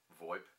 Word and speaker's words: VoIP: or VoIP voice over Internet Protocol pronounced VoIP is simply put phone